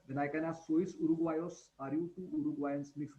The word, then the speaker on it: uruguayos: Okay, G plus U is G, So Uruguayos. this is the country's name, so that pronunciation doesn't change.